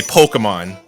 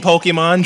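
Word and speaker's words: Pokémon: this project here is I told people to specifically say Pokemon whenever it comes up, because that's the way you're supposed to say it. Yeah, because the accent on the E.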